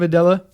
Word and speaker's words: Adela: If you're a fan of Adella, that's how you say it, be sure to support her.